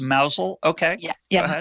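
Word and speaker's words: Mousehole: of you keeping score at home but it's pronounced mousel okay yeah yeah like mouse or yeah um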